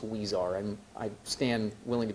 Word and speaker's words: Huizar: this matter is and I believe the last name is pronounced wear and I stand willing